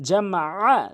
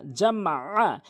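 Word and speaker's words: جَمَعَ: আইনটি হলকের মাঝখান থেকে উচ্চারণ করতে হবে, হলকের মাঝখান থেকে। তাহলে আইনটি অবশ্যই আমরা হলকের মাঝখান থেকে চাপ দিয়ে আইন জামা আ, জামা আ।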